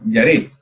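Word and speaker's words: ירא: Se pronunciaría yaré.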